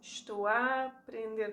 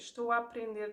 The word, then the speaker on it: estou a aprender: What we do is estou a aprender português, estou a aprender português. We combine the A's, we make it a very open and slightly longer A, okay?